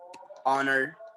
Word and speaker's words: honor: This is the main rule, and the rule is saying we use an before some words beginning with silent consonants as the next letter is a vowel.